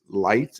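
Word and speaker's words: Licht: by the name of Chris light or l-i-c-h-t I think it's Chris lit actually how you pronounce it he came and he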